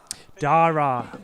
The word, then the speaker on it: Dara: then Ironton slow down Dara that's how you say it yes you are that's the right way Dara if you